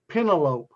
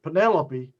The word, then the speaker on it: Penelope: it and i say pentalope and everybody class breaks out laughing it was penelope but i pronounced it pentelope and i i was